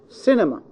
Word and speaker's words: cinema: word containing short vowels, then the stress must be in the third syllable from the end. The third syllable from the end. Okay? We count from the end, not from the beginning. So, cinema. Si-ni-ma. The third syllable is C. Cinema.